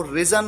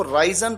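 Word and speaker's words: risen: राइज रोज रिजन राइजिंग यहां पर आपको ध्यान रखना है कि जो थर्ड फॉर्म है वो रीजन उसको प्रोनाउंस किया जाता है रीजन कई बार स्टूडेंट्स इसको राइजन प्रोनाउंस करते हैं यह गलत है आराम करना रेस्ट रेस्टेड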